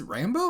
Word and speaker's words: Rambeau: thrown me off that I've been pronouncing Rambeau wrong for the last 20 years. Because she's like, I'm Captain Rambeau. I'm like, it's Rambo? I thought it was Rambeau.